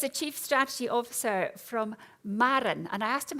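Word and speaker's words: Maraen: He is a Chief Strategy Officer from Marr, and I asked him how you pronounce that just to get it right. It's M-A-R-E-A-N. Oh no, M-A-R-A-E-N, and it's Marra, which is Gaelic for the sea, energy, Marran, which makes perfect sense now.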